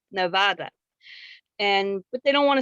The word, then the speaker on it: Nevada: people in nevada say nevada however that is a spanish word and it is pronounced properly as nevada and but they don't